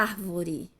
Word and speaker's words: árvore: pincel aqui ó a árvore a árvore ela é uma palavra proparoxítona Por que que não a palavra proparoxítona porque a antepenúltima a a sílaba antepenúltima ela é acentuada ou eu tenho a